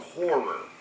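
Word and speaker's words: HO99O9: My number 3, people, is a band called Horror. Horror, but it's spelled HO9909, and it is some of the best shit I've heard in ages.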